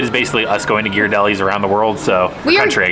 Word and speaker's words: Ghirardelli: And it is pronounced Ghirardelli. It says so in the thing. So all you Ghirardelli people, you are wrong. Completely wrong.